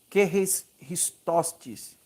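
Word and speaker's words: χρηστότης: Essa palavra no grego, a pronúncia é que ristostes.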